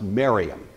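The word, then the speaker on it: Mariamne: spelled something like Mar Omni but it's usually pronounced Mariam Mariam was a Hasan princess by all account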